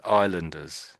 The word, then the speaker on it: islanders: Islanders. Islanders. There's an S there. And we sort of don't really say it. We sort of ignore it.